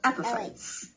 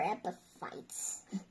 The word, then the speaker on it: epiphytes: And the stress is in the first syllable. Epiphytes. Epiphytes or epiphytes? Epiphytes. Epiphytes. Epiphytes, not epiphytes. F sound.